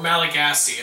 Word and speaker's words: Malagasy: What ocean is the Malagasy Republic in, or Malagasy? It's spelled M-A-L-A-G-A-S-Y.